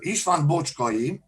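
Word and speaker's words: Bocskai István: a principle of transylvania pronunciation in hungary is uh ishvan bochkoyi nowadays uh hungarian university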